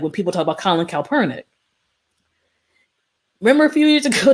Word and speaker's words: Kaepernick: of protest, like when people talk about Colin Kaepernick. Remember a few years ago that people just pretty much called him the worst thing of the worst for taking a knee? Could you say Kaepernick?